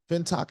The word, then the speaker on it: Fintoch: Fintoch is how I've heard it pronounced.